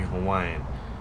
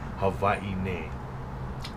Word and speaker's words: Hawaii: Hawaii. So the V is the W is pronounced V.